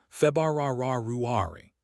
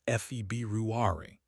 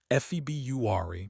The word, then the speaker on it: February: Emphasize that first R almost excessively when you practice. February. Really roll it. Then, as you get comfortable, you can soften it to a more natural February.